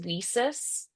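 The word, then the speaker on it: WiCyS: Um there's also for women in cyber there's weis and that's how you pronounce it. It looks like why sis but they wanted to be like we sisters do things together.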